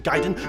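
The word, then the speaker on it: Gaiden: region property speaking of Ryu let's talk ninja giden not gayen it rhymes with metal gears Ryden that's Ryden not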